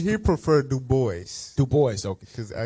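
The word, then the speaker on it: Du Bois: DUIs said the Bole he said he prefer do boys do boys okay cuz I I don't know if he do boys you know that's damn that's with them Greek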